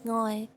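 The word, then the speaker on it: 愛: In Cantonese it's ngoi. In Japanese it's I.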